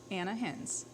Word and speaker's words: Ana Hinz: manager and how do you say your name Anna hins oh don't give Joshua any credit please please